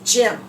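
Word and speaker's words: gym: Brimmer for what is that word do you see the Y here it's making the it sound that word is Jim oh my gosh this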